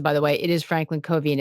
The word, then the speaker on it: Franklin Covey: on fundamentals if you get them right i mispronounced it by the way it is franklin covey and it's fc is the ticker and it